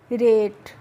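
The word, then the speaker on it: rate: pronounce करना है तो आर ए टी ई रेट एफ ए टी ई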